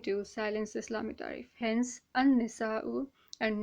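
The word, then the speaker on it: النساء: Hence, an-nisa'u and not al-nisa. Those who know Urdu make this mistake a lot. All right, they always say al-nisa, al-nisa. It is not al-nisa, it's an-nisa.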